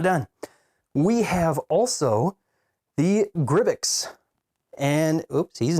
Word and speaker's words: Grybyx: And so there's a possibility that we might see from Neca a larger Gribbix. I think that's how you pronounce it. Gribbix? That's how it's spelled.